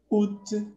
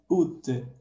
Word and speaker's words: août: Août, nous avons beaucoup de lettres, nous sommes bastante de lettres, mais on prononce seulement août, à je prononce seulement août.